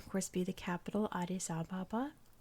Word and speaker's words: Addis Ababa: the capital, Addis Ababa, which I've heard pronounced so many different ways. I've always said Addis Ababa, like my whole life. I've heard Addis Ababa, it's one of those. Like, take your pick. It's probably one of those, just depending on where you are in the world, is how it's properly pronounced.